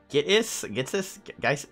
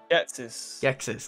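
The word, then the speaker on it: Ghetsis: Gitsis? What the fuck do you pronounce his name? Gexis, thank you.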